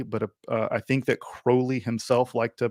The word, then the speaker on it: Crowley: uh i think that crowley himself liked to pronounce it as crowley in fact i think he wrote poems where he uh he uh he rhymed crowley with holy because you know obviously